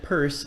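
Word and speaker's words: Peirce: implication discovered by John shasi which means that purse and yes that is how you pronounce his name is actually the creator of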